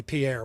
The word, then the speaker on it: Pierre: Pier South Dakota it the word is definitely Pierre but they they pronounce it Pier that's pronounced in South